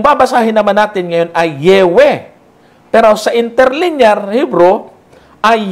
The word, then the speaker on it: Yahweh: If the explanation of the form above given be the true one, the original pronunciation must have been Yahweh or Yahweh.